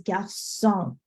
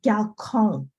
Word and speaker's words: garçon: If that C with the accent did not exist on that garçon word, it'd be pronounced galcon, because is the original sound. That accent on the bottom changes everything.